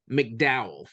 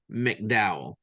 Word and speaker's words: McDow: name should be pronounced McDow it's not Mac it's MC McDow but we always said